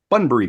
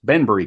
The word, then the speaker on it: Banbury: food and in time added other items like Bunbury cakes Banbury cakes oh pronunciations we'll do our best uh I I've